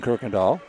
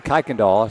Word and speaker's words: Kirkindall: That'll be two fouls on Preston Kirkindall. I'm still fighting not to say Kaikondall. That's what I said all year last year before learning it was incorrect.